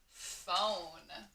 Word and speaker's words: phone: O-N, phone. So we were talking about those digraphs, like P-H doesn't sound like pa or ha.